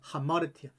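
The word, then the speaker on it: ἁμαρτία: 피해 하려고만 합니다 아닙니다 마르티아 마르티아 신약 성경에 나오는 헬라 발음입니다 하마르티아 바로 우리가 알고 있는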